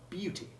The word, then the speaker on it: beauty: and almost merged with the sound of the pronoun you or the name of the letter U. Listen carefully. Beauty.